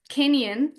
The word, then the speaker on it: Kineon: Kenyan, am I pronouncing it correct?